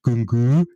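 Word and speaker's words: Nkunku: not really talking about Kunku, that's the right pronunciation in Sächsisch, Kunku, and Szoboszlai, Joshko, okay.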